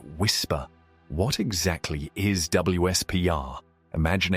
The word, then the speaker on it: WSPR: specifically the weak signal propagation reporter or WSPR often pronounced whisper.